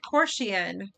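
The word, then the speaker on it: coercion: Korshian.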